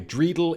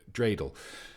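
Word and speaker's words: dreidel: uh and like a drreidle in a haystack. Uh presumably he means uh dreel.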